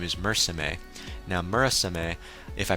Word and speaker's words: Murasame: His name is spelled M-U-R-A-S-A-M-E, so Murasame, depending on how you want to pronounce it.